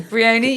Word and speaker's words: Brioni: And the shirt, we discovered that's from Brioni or Brioni. Yes, Brioni. Yeah. We can pronounce that correctly now.